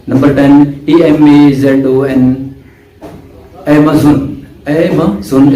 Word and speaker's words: Amazon: एमेज़न इसको जोन ZON या ZUN नहीं पढ़ना, एमेज़न ये अमेरिकन।